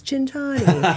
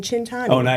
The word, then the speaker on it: Centanni: you do the a but in Italy it's chintani. Cintani and that means 100 years of good luck. So, when we're cheersing, it's always chintani.